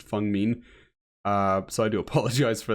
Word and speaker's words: Feng Min: I know very little about it, but apparently her name is pronounced Feng Min.